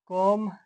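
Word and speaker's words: comb: तो जब एम के बाद बी आए आया हो तो बी साइलेंट होता है। जैसे कोम डम थम बम इसमें एम के बाद बी आया है तो बी साइलेंट रहेगा।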